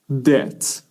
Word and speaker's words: debt: in debt pay attention we have B here but we don't pronounce it to be in debt if you are in